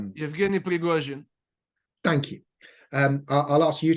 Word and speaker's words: Prigozhin: Yevgeny Prigozhin. Thank you. I'll ask you to pronounce it every time his name comes up, because you're so good at it now.